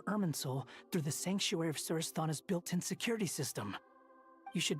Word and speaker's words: Surasthana: Once the connection is established, we'll disappear from the sanctuary of Surasthana. Go help the others. That's how you pronounce it.